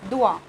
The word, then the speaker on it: dois: Okay, this is difference of spelling only, but pronunciation is same, doit.